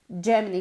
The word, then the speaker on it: Germany: En este caso, okay, este sonido se escribe con una G. Okay, but the sound is the same. Germany. Germany.